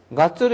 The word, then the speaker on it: 月: 월을 뭐라고 읽어요? 가츠로 읽죠?